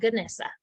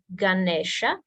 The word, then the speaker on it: Ganesha: Nation Ganesha so this is how it's spelled but don't be fooled it's not goodness it's Ganesha Ganesha is the Hindu